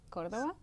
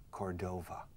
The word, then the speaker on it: Córdoba: In the West, you have Huelva, Cádiz, Cádiz, Córdoba, Córdoba, Sevilla. and Seville. Seville. De hecho, los angloparlantes que no saben nada español dicen Cordova. Y creo que se escribe con V al final. Cordova en inglés.